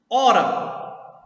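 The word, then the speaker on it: hora: Ora. Aí ora é o contrário, ó. Eu tenho 4 letras e 3 fonemas. Olhe que esse H aqui, ó, eu não pronuncio.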